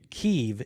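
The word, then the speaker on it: Kyiv: when we changed it they changed it because keeve is the way that the ukrainians pronounce it oh kiev is how the russians is the way the russians so they're i'm still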